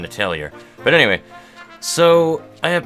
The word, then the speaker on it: Atelier: Apparently, people of the internet say that it is very important not to pronounce the R in Atelier.